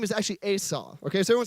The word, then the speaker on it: Esau: Now, it's actually pronounced, I'm really picky about how I pronounce people's names because I don't want to be rude. So his name is actually Esau.